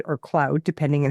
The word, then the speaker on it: Claude: using it a lot but um I'm using quad or Cloud depending on how you say it and I'll